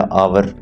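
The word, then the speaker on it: hour: है आयर वारिस इसको हम बोलते हैं या आवर इसको हम घंटा बोलते हैं तो यह ऐसे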